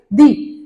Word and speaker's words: the: तो इसको हम क्या प्रोनाउंस करेंगे? दी।